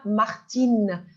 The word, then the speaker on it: Martin: son in in comme Martine alors regardons c'est Martin le i n se prononce un mais si si on va ajouter la lettre E on va prononcer in Martin Martine alors s'il vous plaît